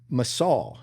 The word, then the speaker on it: Massoll: Today we have a very special guest, Brian Massoll. Am I pronouncing that correctly?